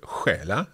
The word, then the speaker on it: stjäla: So hopefully we won't have to use that word, but stjäla. Okay, so STJ there. Anything else? We also can spell it with SK.